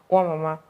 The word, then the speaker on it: Nwamama: like listening to the voice note and like, Nwamama, Nwamama, oh my god.